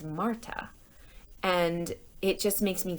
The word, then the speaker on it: Marta: If you've been reading along on the text or listening super carefully, you might have noticed that they call her Martha, but her name is Marta.